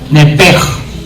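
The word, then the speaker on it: נפש: En el CH, en el hebreo se pronuncia como J, nepej.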